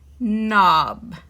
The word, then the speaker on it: knob: it this is ob we put k n it makes that n because k is silent knob and those are some